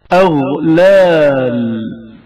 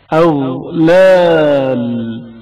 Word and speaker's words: اغلال: اغلال غین کی آواز جریان رکھتی ہے اور اچانک منقطع نہیں ہوتی. اغلال اغلال غین کے تلفظ کے وقت نظام آواز کی حالت کو مشاہدہ کریں.